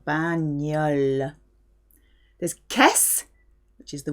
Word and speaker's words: bagnole: GN gives you a ñ sound, very nasal. Bagnole.